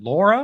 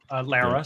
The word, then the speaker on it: Lara: So we had Ann Johnson, we had Vasu, we had Maria Thompson, we had Laura, right? Lara, sorry. Lara. I always pronounce her name wrong.